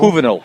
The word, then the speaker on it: Juvenal: His real name, Juvenal or Juvenile? Juvenile. That's how you pronounce Juvenile? it. Yep. I'm supposed to say Juvenile.